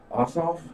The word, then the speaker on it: Ossoff: then we got david perdue versus uh john ossoff is that how you pronounce it yeah okay i didn't i'm sorry